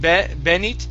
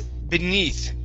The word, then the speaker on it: beneath: Instead of benit, it's beneath, beneath. Okay, another strange stress, okay.